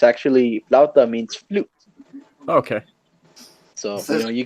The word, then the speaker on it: flauta: It's actually a rolled corn, I guess like a flauta, if you could say.